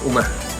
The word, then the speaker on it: uma: uma Verde Okay so ang pronunciation Actually non ay uma uma Okay uma so ang meaning ng